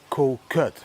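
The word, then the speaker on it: Koh Kood: You pronounce it like Koh Kut, but if I say Koh Kut in the Netherlands they think I'm saying kut, which means pussy.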